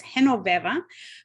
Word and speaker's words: Genoveva: And just a quick correction, my first name is spelled with a G, but it's pronounced like an H. So it's Genoveva.